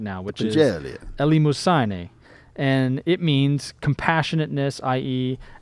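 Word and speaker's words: ἐλεημοσύνη: Elimosyne. Elimosyne. It's got to be right. I mean, if he says it, it's got to be right. That's the way you pronounce Elimosyne.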